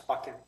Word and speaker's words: Buchan: Okay, our next speaker is Buchan, and he will correct my pronunciation, and he's at Unit 305 at 1110 Howie. Yeah, it's Buchan.